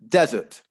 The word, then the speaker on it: desert: the first word then the stress would actually be on the first syllable desert that's a place uh